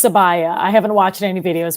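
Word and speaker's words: Sabiyah: I'm gonna pick um I believe it's pronounced sabaya I haven't watched any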